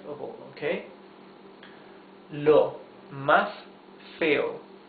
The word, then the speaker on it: feo: Lo más feo, the most ugly of all, or the ugliest of all, okay? Lo más feo. Feo, 2 syllables. Feo, feo.